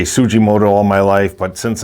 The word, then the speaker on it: Tsujimoto: tujimoto and i'll say tujimoto even though i say tsujimoto all my life but since i'm you know i i've always pronounced the t silent but it's supposed to be the s that's silent but i got so